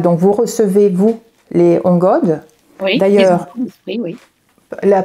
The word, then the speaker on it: ongod: Parce que, justement, vous dites, vous êtes un canal, donc vous recevez, vous, les ongodes. Oui, d'ailleurs, oui. La prononciation, pardon, comment avez-vous dit?